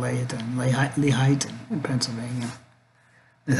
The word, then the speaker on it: Lehighton: Lehighton in Pennsylvania. That's how you really pronounce it.